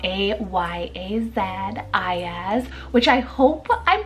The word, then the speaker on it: Ayaz: Ayaz, spelled A-Y-A-Z, Ayaz, which I hope I'm pronouncing it right.